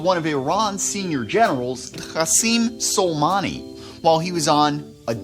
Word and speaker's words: Qassem: Qassem Soleimani. You gotta add that phlegm, which is appropriate because when I hear about him, I want to gag on my own vomit.